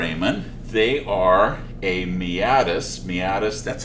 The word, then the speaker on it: meatus: of not for amen they are a meatus meatus that's how you pronounce it by the way a meatus is